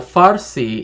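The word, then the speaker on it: Farsi: so farsy and well well farsy is the way how it's pronounced Persian is the way how the Greeks pronounced it because the area that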